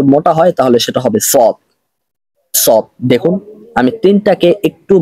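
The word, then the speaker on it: ص: জোরে হচ্ছে চিকন হচ্ছে আর সদ এটা মোটা করে হবে সদ সদ সদ এখানে আওয়াজটা মোটা হচ্ছে এবং জোরে হচ্ছে তার মানে বুঝতে পারলাম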